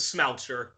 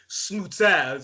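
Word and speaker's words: Smouter: but, and then the last name is Smoucher. Oh man, really? Okay. Yes, but don't worry, everybody always pronounces it wrong. Even my mother, who's married to my father, she still has to Frenchify it by saying smooter.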